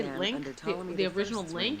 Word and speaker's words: Ptolemy: It started with the building, or it started with Ptolemy the First. Mm-hmm. By the way, when I was a kid, I kept trying to pronounce the P. Ptolemy.